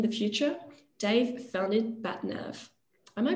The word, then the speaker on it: BatNav: renewables work in the future dave found it bat nerve am i pronouncing it right bad nerve perfect but batnap provides engineering and project services